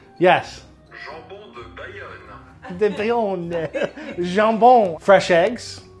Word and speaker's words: jambon de Bayonne: Jambon de Bayonne, which I definitely pronounced wrong. You want to hear the French pronunciation? Yes. Jambon de Bayonne.